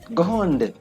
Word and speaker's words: grande: Grande, there's a difference. The E makes us pronounce this D.